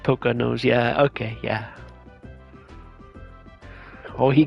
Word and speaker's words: Poconos: Poke his nose and take him to the Poconos. Wait a tick. This pirate just like, I'm gonna break your shield with my fist. You're hard. As Olaf just picks his nose. It's pronounced Poca nose.